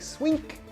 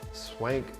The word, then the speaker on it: Swenk: and I apologize uh people always mispronounce my last name they always like swink but it's Swank even though it's with the e but let's go ahead